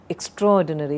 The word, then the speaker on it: extraordinary: Extraordinary, it's not extraordinary, extraordinary.